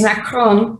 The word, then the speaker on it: macaron: It's macaron, but I pronounce it the other way.